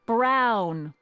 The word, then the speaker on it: Brown: a te that's EMT Brown rhymes with clown which I'm beginning to